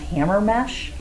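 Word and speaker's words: Hamermesh: The researcher was Daniel, I believe it's pronounced Hammermesh.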